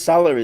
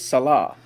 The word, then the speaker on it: Salah: I mean I mean Muhammad's salary is it's Salah it is and we just